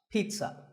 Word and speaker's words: pizza: no sound in this word it's Pete son pizza another food word that's mispronounced a lot is vegetable it's not vegetable